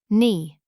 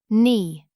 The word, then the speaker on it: knee: Knee. Knee. Silent k.